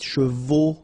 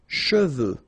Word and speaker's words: cheveux: Usually this one is a bit of a problem because some of the students normally pronounce it chevaux, okay? So try to keep in mind that you get E-U here. So it goes like okay, and then final X not pronounced, sorry, final X, should pronounce it the French way. Final X is not pronounced. So you get che, and then you get the, okay, cheveux, okay, and the full